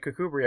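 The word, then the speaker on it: Kirkcudbright: Like that other place you said Kubri. I was like that's Australian, right? No, no, no. It's it's it's spelled like Kirk Cudbright, which cuz Kirk means church.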